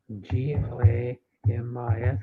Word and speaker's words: Glamis: like Glam glammer Gamers or glammer yeah how pronounce it Glamis what Glamis glamas yeah wow g l a m i s Glamis Glamis Glamis is in uh Al alonis